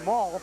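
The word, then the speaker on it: Maul: out, along with Kyle Mall, the fullback. It's pronounced M-A-U-L.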